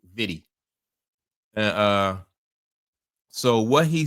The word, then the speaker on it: Vitti: I think I'm pronouncing his name right. It's Gary Vidy. Yeah. V I ti. Right. Vidy.